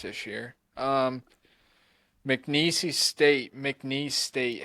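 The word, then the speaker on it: McNeese: Um, MCI State, MCN State. How do you say that? MCN. There's no there's no E on the end. I mean, there is, but don't sound it up.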